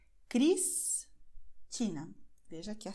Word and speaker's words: Cristina: Quando ela aparece antes de consoante no fim da sílaba, Cristina. Veja que a sílaba termina com a letra S, que tem som de S. Cristina.